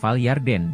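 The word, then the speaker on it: ירדן: in the concordant 3383 comes from the word pronounced yarden and has its roots in h3381 from the words yarat and yarat means going down to a lower area.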